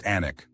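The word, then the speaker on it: Alnwick: This charming border town, pronounced Anic, offers an intimate glimpse into English history while serving as gateway to some of Britain's most spectacular and unspoiled countryside.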